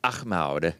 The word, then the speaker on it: Ahmad: You made it American sounding, but it's Ahmad. That's where that name comes from. Yeah. I mean, It's Muslim. yeah. You got to Ahmad. pronounce it Muslim.